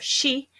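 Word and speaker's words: shi: a very unlucky number it has one of the pronunciations of she and it's she is associated with death and then the biggest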